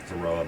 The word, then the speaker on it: Varroa: It's spelled B-A-R-R-O. Varroa mite.